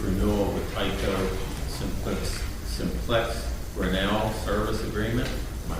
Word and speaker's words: Grinnell: I'd also like to move for adoption of resolution number 92, which is approved renewal of the Tyco Simplex Grinnell service agreement. Am I pronouncing that right?